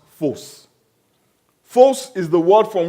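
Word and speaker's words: φῶς: You know, that word light comes from a Greek word which is pronounced phos.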